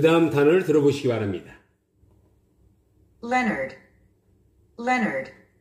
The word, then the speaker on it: Leonard: Leonard. 우리 한국인은 이 단어를 레오나르드 또는 레오날드 이렇게 발음합니다. 그런데 원어민들은요? Leonard. 스트레스가 맨 앞에 있습니다. O가 묵음입니다. Leonard. 남자 이름이죠. Leonard.